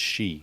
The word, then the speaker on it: Xi: know what i want to say but it's she because that's what the x is so anyway